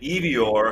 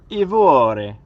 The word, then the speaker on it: Ivoire: So Yvonne and Ivior, because her father's Ukrainian. That's how Ukrainian would pronounce that name. So if I pronounced it Ivore, no, that's a no-go, I guess.